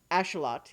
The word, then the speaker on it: axolotl: thing is that the the creature that is sometimes called an axolotl by Americans Plus ash a lot yeah is is you know has that's their pronunciation so oh Clash a